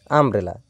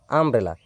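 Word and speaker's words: umbrella: ইউ দিয়ে শুরু হবে তবুও কিন্তু আর মত উচ্চারণটা হয়। দেখো এখানে দেখে নাও। আমব্রেলা। ইউ এম বি আর ই ডাবল এল এ আমব্রেলা।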